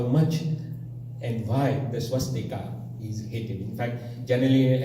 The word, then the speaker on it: swastik: When I refer to the Hindu swastik, I will say swastik, and when I refer to the Hakan crows, I will call it swastika.